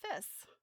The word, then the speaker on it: Fiss: Ah, that last letter is pronounced like an S. Okay, so Bridget Fiss.